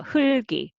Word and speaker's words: 흙이: However, in sentence reading, this is double character followed by zero consonant, then you can separate them. And first root for the first syllable and 그 carryover. So 흘기, 흘기. Then you read everything, right? So 흘기.